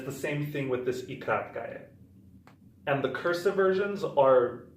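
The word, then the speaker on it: и краткое: And the next stranger we're learning is called ikratkaya. Now ikratkaya, it's pronounced like this, kratkaya, and it's like an E, but as the name mentions, it's short. Kratkaya means short in English.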